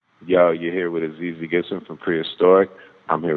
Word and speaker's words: Azizi: So without further ado, I have AZIZI Gibson on the phone.